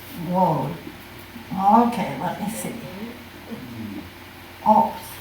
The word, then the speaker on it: Waud: I'm talking about this wonderful, wonderful artist, Alfred, and I always pronounced it Waud, but it's Waud. It's an English name, and Waud.